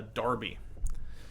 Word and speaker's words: Derby: yeah so it is what they call a Darby so you don't know about darbies yet no no so it's spelled Derby and I don't know